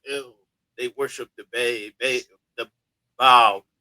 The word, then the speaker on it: Baal: Baal is like the son of El, but Baal is actually pronounced by the Canaanite or Phoenician people as Baal, Baal, and so that's El and Bay.